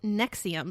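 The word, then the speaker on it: NXIVM: barely last year um it's called Nexium and I tried to look up the reason for naming it that but apparently it was just like a clever title but it's spelled NX I VM yeah I thought it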